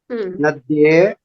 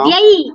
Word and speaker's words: नद्यै: चतुर्थी विभक्त्यां वदतु एकवचनरूपं द्विवचनरूपं बहुवचनरूपं वदतु नदी नद्ये नद्ये नास्ति उच्चारणे दोषः अस्ति महोदय अच्छा नद्ये नद्ये नास्ति नद्यै अस्ति ऐकारस्य उच्चारणं संस्कृतभाषायां स्पष्टतया करणीयम् नद्यै तदनन्तरं नदीभ्यः नद्यै नदीभ्यां नदीभ्यः.